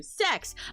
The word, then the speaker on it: CEX: Sex.